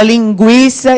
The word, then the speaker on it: linguiça: Linguiça, eu já passei a cola, né? Não é passeio. Quando a gente fala linguiça, esse U tem som e o I que é forte, né?